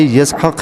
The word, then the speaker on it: یسحق: ہوا تو ختنہ کیا۔ اور اسحاق اصل تلفظ کے اعتبار سے یسحق ہے، اور یہ عربانی الفاظ ہے، اور عربانی زبان